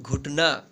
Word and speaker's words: घुटना: देखिए घ में छोटा उच्चारण हो रहा है और छोटी ऊ की मात्रा का, तो यहाँ पे देखिए छोटी ऊ की मात्रा यहाँ पे लगा देंगे।